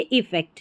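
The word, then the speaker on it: effect: इसका मतलब होता है यहां पर उच्चारण है प्रभाव डालना अफेक्ट डालना यानी कि प्रभाव डालना और इसको हम पढ़ेंगे इफेक्ट यहां पर देखिए उच्चारण है इसमें इफेक्ट इसका मतलब है प्रभाव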